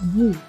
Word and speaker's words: bo: The stem word bo, pronounced bu, meaning live or dwell, can have many prefixes, some serious and some playful, like this for example.